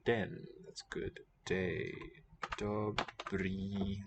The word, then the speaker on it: dobrý: Dobrý den. That's good day. Dobrý, long. The acute accent, we call it, the one that goes upward and rightward, shows a long vowel in Czech.